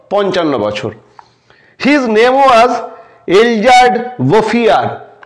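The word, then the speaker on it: Elzéard Bouffier: বছর his name was এলজার্ড বফিয়ার উচ্চারণটা দেখে নাও হিজ নেম ওয়াজ এলজার বোফিয়ার এটা ফরাসি নাম ফরাসি উচ্চারণ এই লোকটির নাম হলো এলজার বোফিয়ার ফার্ম ইন দা প্লেনস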